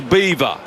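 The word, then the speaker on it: Belvoir: where Emma lives at a place called the Beaver which is spelled B E L V O I R just in case you were wondering.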